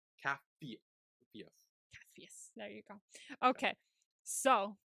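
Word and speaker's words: Capheus: Oh, um, Cathus.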